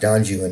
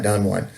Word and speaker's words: Don Juan: To have you read everything from Don Juan and it's actually pronounced Don Juan, not Don Juan.